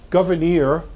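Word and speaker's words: Gouverneur: Pennsylvania it is not that's his name govern Morris um we get the pronunciation from Abigail Adams who kind of used to write phonetically historians still debate the pronunciation but I think hers is probably as close as we're going to get Governor Morris writes the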